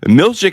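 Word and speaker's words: Milchick: time on your hand if you're concerned about the the emphasis on the wrong salal as they say look look uh Helena and mor they had a relationship it's Milik informs the team that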